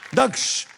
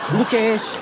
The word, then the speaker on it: दक्ष: दक्ष। लोग वैसे मुझे क्या बुलाते हैं? लोग मुझे दुक्ष बुलाते हैं, दुकेश, और यहाँ पे आके मुझे नया नाम का वेरिएशन मिला है, दुकुश।